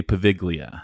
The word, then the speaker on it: Poveglia: do, I will not be able to say Poveglia.